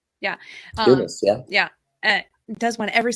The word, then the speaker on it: Dumas: Dumas, yeah.